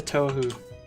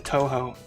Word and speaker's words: Touhou: back in the day i think i called it tohu it's toe like the toe on your foot hoe like the one in